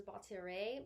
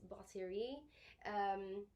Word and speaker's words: batterie: So first I have batterie, which some people pronounce as batterie, but it's batterie. You gotta have the French accent in there to make it sound right.